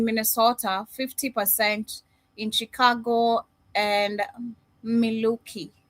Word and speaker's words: Milwaukee: 50% in Chicago and Miloki Miloki Gangster if I'm pronouncing correct. Yeah. No, that's you got it right. Milwaukee, Wisconsin.